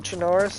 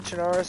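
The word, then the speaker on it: Chernarus: Not that I need it for Chinaris honestly. Chinarus I'm basically have memorized but or Charus I think is actually how it's pronounced.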